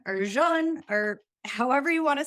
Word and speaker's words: Jun: oh please do just John or June or Jun or however you want to say it I we say Jun rhymes with fun Jun is kombucha's raw